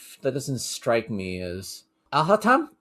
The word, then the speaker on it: Alhaitham: That doesn't strike me as Alhatam? How do you pronounce that? Alhatam? Yes! Alhatam. You got it Is right! it Alhatam?